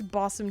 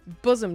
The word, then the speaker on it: bosom: Buddies, partners, bossom chums, boss. Is that how you pronounce that word in this context? Bosom. Bossom. Bam. Bosom. Bosom. I was wrong. Bosom.